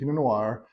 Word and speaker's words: Pinot: it I've been saying pinoir pronouncing the long R uh you don't that's incorrect the first word is Pino so you don't pronounce the t p i n o